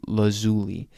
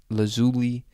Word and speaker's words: lazuli: And lapis lazuli, you can pronounce it lazuli, lazuli, lapis lazuli, something like that.